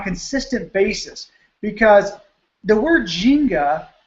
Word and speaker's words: Ginga: do on a consistent basis, because the word Ginga, pronounced Ginga, technically, it's G-I-N-G-A, the Ginga life.